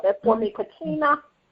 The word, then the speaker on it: Kachina: Just spell that for me, Kachina.